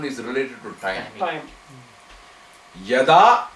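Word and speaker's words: यदा: Yada, like kada. Kada means when, right? Right, when. Related. So actually, it is rhyming with kada.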